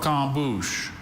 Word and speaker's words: croquembouche: Croquembouche. Okay, please have all the information. Croquembouche is the only pronunciation I see.